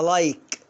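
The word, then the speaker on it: like: بصوا يا جماعة، القاعدة اي حرف ساكن اي تبقى اي، اي حرف ساكن اي تبقى اي. اهو ادي اي وراها كي حرف ساكن وادي الاي، فانطقها ايه؟ تمام، انطقها لايك. شوف لايك، الاي هنا ظاهرة.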